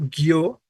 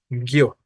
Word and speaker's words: guio: acentuar Pero en cambio guio como lo tenemos escrito es más bien una palabra monosilábica guio vale tenemos diptongo bien Por lo tanto no